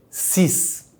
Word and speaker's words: six: We say six, like if that X was double S.